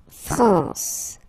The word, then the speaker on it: France: La France, la France. Okay, A-N here, nasal, en, la France.